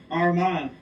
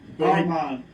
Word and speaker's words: Armagh: Armagh. There you go. Yeah. Armagh. Think of Armagh. Your mother, Armagh. Well, believe me, Armagh, yeah.